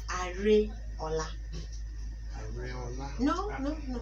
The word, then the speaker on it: Areola: So it's Areola. Areola? No, no, no. Not Areola.